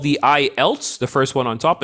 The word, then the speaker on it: IELTS: okay you notice you notice that i said ielts exam that's very important because many people they mis mispronounce the word they call it the eyelids but it's not called empty handle eyelids it's